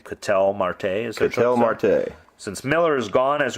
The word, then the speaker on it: Ketel Marte: Ketel Marte.